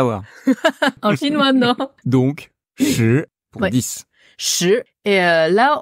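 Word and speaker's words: 十: Shi. Shi. Quel ton? Deuxième ton. Ouais, deuxième ton. Shi.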